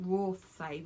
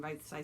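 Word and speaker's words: Rothesay: And thank you very much for the viewer who told me it's pronounced Rothsay rather than Rothsay, so that was actually really helpful.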